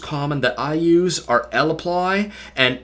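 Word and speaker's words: lapply: to show you two of them here that's l apply or s supply uh you may hear me calling them laplay or saply just because you can pronounce them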